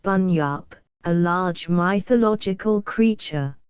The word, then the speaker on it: bunyip: Bunyip, pronounced Bunyip, a large mythological creature, said by the Aborigines to inhabit watery places.